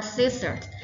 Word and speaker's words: scissors: ค ะ คื อ ค ำ ว่ า scissors s c i s s o r s